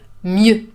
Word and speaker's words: mieux: Mieux is a little bit difficult to pronounce because you have this closed E. Mieux.